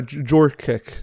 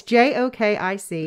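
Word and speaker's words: Jokić: You're a Jorkic. Okay. I wondered how to say it. It's J-O-K-I-C. Yeah. Jokic. Jokic. Nikola Jokic.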